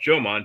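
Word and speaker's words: Jōmon: the the ancient Homman Jan people and they it's pronounced Joman J- O M O N just like the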